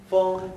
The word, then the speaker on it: 风: 风很大. 风很大. 风. 风. 입을 风. 风. 어, 风. 风. 네, 风 하면 ng가 더 길죠? 어가 길어야 되니까, 风.